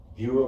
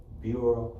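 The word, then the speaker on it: Bero: Also, Bureau Barbershop in the city of Ypsilanti, 2653 Ellsworth Road, open 7 days a week from 10 a.m.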